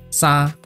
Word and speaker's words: 衫: 举一个发音的例子，沙，沙没有上升下降，维持在高音，和华语第一声基本上是一样的。